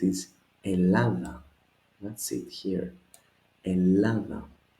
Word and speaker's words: Ελλάδα: Ελλάδα. The double lambda does not affect the pronunciation, just spelling rule.